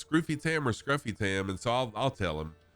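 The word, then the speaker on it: Scrufy Tam: And like even my name, technically my name should be pronounced Scroofy Tam, because there's only one F after the U, so that changes the U from a to a U.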